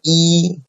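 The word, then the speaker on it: 一: is read alone so e is pronounced as the first syllable okay so by itself so e is a um first T syllable so we say e right e but if e is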